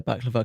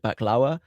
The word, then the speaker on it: baklava: and by the way I know that you pronounce it back Lauer for the Egyptian story but I'm gonna say back lever because that's how the guys in my story pronounced it in Turkey there's like a yeah